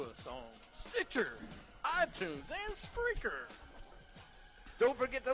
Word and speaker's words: Spreaker: can find this show, and you say Spreaker, I always think you're mispronouncing the word. No. I know you're not, but I'm like, dude, the word speaker. But it's not.